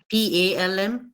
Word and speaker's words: palm: between these two words p a l m palm and c a l m come Cal L silent yes exactly very good so the L is silent okay now first thing